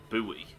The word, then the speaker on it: buoy: It's always confused me why Americans pronounce that buoy.